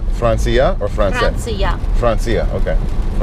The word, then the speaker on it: Франция: It's Francia or France? Франция. Francia, okay. Francia. No, not Francia. Francia. Francia. Okay, got the first syllable accent.